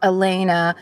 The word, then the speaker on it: Alana: As a SDGM, Alana, pronounced Elena. My parents couldn't be bothered to add an extra vowel.